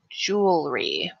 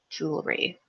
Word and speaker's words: jewelry: similar pronunciation issues right jewelry jewelry that's a fun word I like that word jewel REE and so this goes